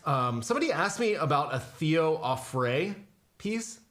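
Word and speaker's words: Auffret: asked me about Theo afrae peace I'm sure I'm pronouncing that wrong a French name Teo offre a-u-f-f-r-e-t and asked about the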